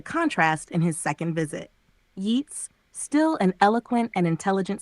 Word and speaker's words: Yeats: right yes that's right I'm pronouncing yeets like Gates thanks for the reminder